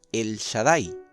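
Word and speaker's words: אל שדי: si está relacionado con esta frase que se pronuncia el shaddai en hebreo clásico esta frase se traduce en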